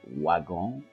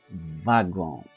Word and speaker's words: wagon: Au lieu de prononcer wagon, on prononce wagon.